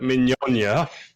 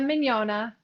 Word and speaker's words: Mignogna: Um, it's Adrian from the pageant project and I have with me, wish me luck, Danielle Allura Minona. God, I butchered that.